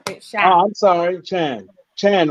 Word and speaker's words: Chann: for lady charm um my name you can pronounce it lady shan it shout i'm sorry chan chan right yeah i'm